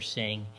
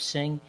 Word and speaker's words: Singh: Singh for what he endured, and really thank him for his courage for being here today.